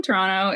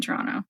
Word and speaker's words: Toronto: Because apparently you can tell when someone's not from Toronto if they pronounce the second T.